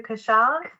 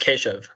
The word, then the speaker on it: Keshav: Yeah, it's pronounced Keshav. Keshav, But see? I was getting it all wrong.